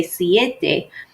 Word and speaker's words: siete: So notice when we say siete, we say 2 vowels. But in seis, it doesn't sound natural when you do. So we have 31, 32,